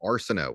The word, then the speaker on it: Arceneaux: I want to say is my last name Areno spell it correctly a RC n here's where it